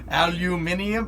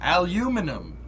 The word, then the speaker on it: aluminum: in my head aluminium no no no aluminum aluminum you guys are saying it wrong uh oh chet we've